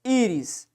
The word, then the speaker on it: íris: Íris é uma palavra de sílaba, tem 2 sílabas, sim, ó, íris. E o quê? E paroxítona. Sim, a paroxítona, a sílaba tônica tá aqui, ó, certo?